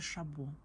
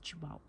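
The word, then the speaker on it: Chabaud: Шабошка, если вдруг вы не знали, как правильно произносится этот бренд, это Шабо. Хотя я, когда пришла в Ревгош, была уверена, что он называется Чебаут.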